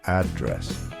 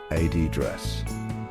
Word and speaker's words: address: For example, the word address is stressed on the second syllable in British English, address, while in American English, it's stressed on the first syllable, address.